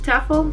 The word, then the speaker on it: TEFL: i am officially starting my t t full taffle t-e-f-l however you want to pronounce it i like to call it tefl